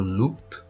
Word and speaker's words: loup: le chien le loup attention le P final on le prononce pas c'est pas le loupe c'est le loup et